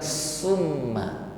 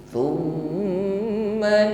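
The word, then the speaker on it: ثم: Ini pengucapan huruf tha, bunyinya tidak berdesis sebagaimana huruf sin, bukan summa tetapi thumma la samarkan dan dengungkan, dengungnya menebal.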